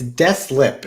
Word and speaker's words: Deslippe: all the time it's true yeah it's it's destlip is how we pronounce it so you kind of delete the